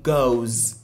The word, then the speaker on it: goes: Bien vrai qu'on écrit ES, mais on prononce ça comme le son Z.